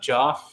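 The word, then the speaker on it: Geoff: Joff. Oh, Jeff. Jeff. Yeah, it's Jeff. Geo FF, right? Yeah. Jeff Tora. It's just pronounced like J E FF instead.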